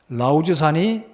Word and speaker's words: 라우즈산: 바로 여기가 라우즈인데 정확한 발음은 라우즈산입니다.